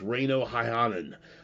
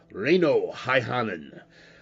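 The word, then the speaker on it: Reino Häyhänen: I'll pronounce it for you first. Reino Haihanen. Reino Haihanen.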